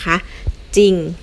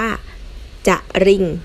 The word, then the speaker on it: จริง: ร เรือ อย่าง เช่น คำ ว่า จริง นะ คะ จริง นะ อ่าน ว่า จ ถ้า เรา ไม่ อ่าน ว่า จะ ลิง นะ คะ หลอก เสียง ว่า จริง ต่อ ไป ซอโซ่ กับ